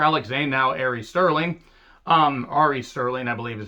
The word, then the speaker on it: Ari Sterling: And then the former Alex Zane, now Ari Sterling, Ari Sterling, I believe is how it's pronounced.